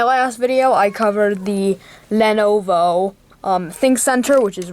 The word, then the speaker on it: Lenovo: out how i um pronounce lenovo wrong i said lenovo but it's lenovo so um yeah so um